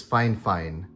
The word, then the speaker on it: Fifine: to pronounce this is fine. Fine. Like it's like you're saying fine, ignoring the F and then you say fine again.